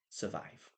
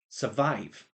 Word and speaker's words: survive: start with this word survive. Okay, so I've got green here. That means it's pronunciation. Listen to this closely. Survive. Survive. The big part of that word, the stressed part is vive.